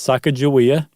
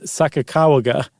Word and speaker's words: Sacagawea: years, no, it's not Saka Joa, it's Sakawaga, right? Is one pronounce pronunciation of it. But that it's not J, it's G.